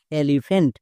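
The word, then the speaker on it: elephant: ই এলই এলই পি এইচ এ এনটি ফেন্ট এলিফ্যান্ট এখানেও দেখো পিএইচ আছে পিএইচ এর জন্য ফো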